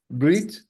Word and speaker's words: brit: Brit, so Brit, you may know from the Ashkenazic pronunciation, a bris. Do our Christian friends know what a bris is? Circumcision. Yes. The Yiddish pronunciation of a circumcision. So a mohel is the one who does the bris, but it's actually in Hebrew mohel and brit.